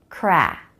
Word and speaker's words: crack: of the tongue cur crack then the a vowel lots of jaw drop for this one the back of the tongue lifts the tip of the tongue stays down ah crack crack and another K sound